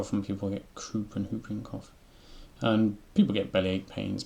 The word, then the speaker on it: whooping cough: Whooping cough. I believe you don't pronounce the W in that.